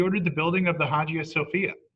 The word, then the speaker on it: Hagia Sophia: the building of the Hagia Sophia often pronounced the aya Sophia a church in Constantinople